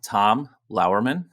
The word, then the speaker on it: Tom Lauerman: I'm Tom Lauerman. That is how I would pronounce it.